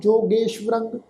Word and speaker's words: जोगेश्वरंग: ये जिहड़ा शब्द आ जजे उत्ते होड़ा गगे उत्ते एकला सस्से दे पैर विच अद्धा वावा अखर व्यंजन लगा होया। इत्ते असीं सस्से पैर बिंदी लगा के फिर अद्धा वावा अखर व्यंजन का पाठ उच्चारण करांगे। रारे उत्ते जिहड़ी टिप्पी की मात्रा वा उहदा नासिक उच्चारण होएगा जोगेश्वरंग।